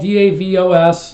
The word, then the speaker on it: Davos: It's spelled D-A-V-O-S.